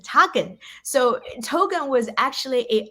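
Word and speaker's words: teken: it's old english but the dutch and german meaning of token literally means teach and it pronounces taken so token was actually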